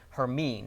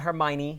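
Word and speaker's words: Hermine: pronunciation okay something is it's not Hermione it's her mean we've confirmed that with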